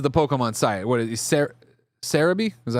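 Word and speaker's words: Celebi: What is Sarabe? Is that how you say Cereabe? It's the Japanese pronunciation for Celaby.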